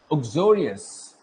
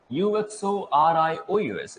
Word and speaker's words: uxorious: एक्सोरो wife होती है एंड एक्सोरे, एक्सोरो भी कहते हैं, डिफरेंट प्रोनाउंसिएशन इसके हैं। एक्सोरियस, UXORIOUS, एक्सोरियस मीन्स व्हाट?